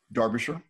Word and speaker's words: Derbyshire: But Sharon is joining us today from Derbyshire. Did I pronounce it the right way again? You absolutely did.